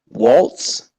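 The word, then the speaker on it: Walz: uh you know the thing how do you pronounce the kamala's VP candidates last name Waltz okay is he as bad as people say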